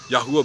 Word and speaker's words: Yahweh: clear that this is the only true valid pronunciation of the sacred name Yahweh be with you may place his countenance upon